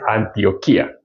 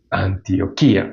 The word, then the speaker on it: Antioquía: Entonces, bueno, aquí tiene tilde en la I. Entonces dice Antioquía. Ahí sucede yato. Antioquía. Ah, no es diptongo. Antioquía, pero tiene el acento en la I.